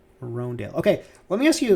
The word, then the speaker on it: Hröndaayl: this for your convenience his name is pronounced rhone dale roandale roandale okay let me ask